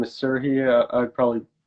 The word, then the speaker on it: Serhii: yeah, you almost nailed it actually because my name is pronounced as Serhi, Hmm. but it's the last letter is difficult to pronounce for English speakers because you don't have like an alternative Hmm. to that letter.